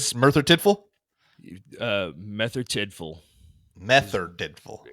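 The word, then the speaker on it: Merthyr Tydfil: tiful uh meth tiful meth tiful so you don't pronounce the r that's what it sounds like yeah okay all right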